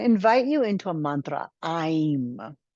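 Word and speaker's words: ऐं: you into a mantra I'm it's spelled like the word aim a IIM it's the Bea sound or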